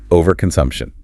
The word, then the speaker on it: overconsumption: I want our listeners to really master the pronunciation of overconsumption because it has five syllables and getting the stress right is key to sounding fluent. Good idea. The stress falls hard on the sump syllable.